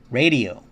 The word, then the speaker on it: radio: uh the second word radio you say now because the r is at the beginning in Spanish it's going to be hard sound radio radio radio radio